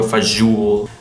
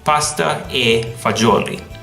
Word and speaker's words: pasta e fagioli: ricotta mozzarella capisci another one is pasta fazool fazool this came from the important dialect but you say pasta e fagioli pasta fagioli this is the worst in America